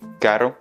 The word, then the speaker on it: caro: Et car, caro, c'est l'adjectif. Et dans ces cas-là, on se rapproche du L, c'est beaucoup plus léger parce qu'il y a un seul R.